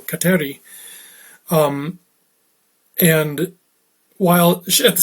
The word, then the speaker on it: Kateri: accepted the name catherine or as she pronounced it in her mohawk tongue kateri and while she at